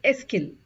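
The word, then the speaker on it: est-ce qu'il: so it becomes ESO it's not es but it's esil you have to group it together and say esil okay now when you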